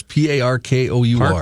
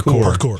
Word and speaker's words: parkour: know who P Park what park hour is p a r k o u r parkour parkour you everybody knows what me it